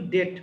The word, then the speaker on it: debt: ডেট ঋণ, উচ্চারণটা কিন্তু ডেট, বীর উচ্চারণ হবে না।